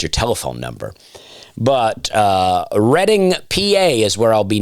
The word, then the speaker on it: Reading: the, uh, DMs that I received about my pronunciations uh, helped me out a lot. But I'll be in Reading, Pennsylvania. Reading, PA, I'm told.